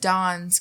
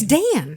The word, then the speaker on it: Dan: It's Dan. D-A-N. That's not Yep. Dawn. That's Nope. Dan. That's how she says it. If it's Dawn, then it would be an O, or there would be a W thrown in there.